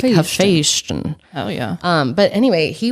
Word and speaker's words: Hephaestion: I think it's Hephaestion, like Sebastian, but like Hephaestion.